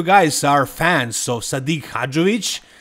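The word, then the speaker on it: Hadžović: are fans of sadik hajic I know some of you call him sadik hovic but that's wrong pronunciation he is from over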